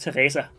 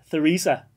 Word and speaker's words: Theresa: By the way, if you weren't curious, if you aren't Danish, your name in Danish would be pronounced Teresa. But you are Theresa. Theresa, I think, in English, something like that.